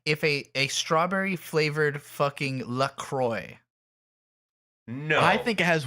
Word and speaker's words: LaCroix: First of all, it is pronounced LaCroix.